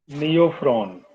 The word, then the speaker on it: Neophron: और नियोफ्रॉन, जैसे नेफ्रॉन मत समझ लेना, NEOPHRON।